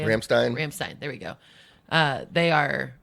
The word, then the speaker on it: Rammstein: Rammstein.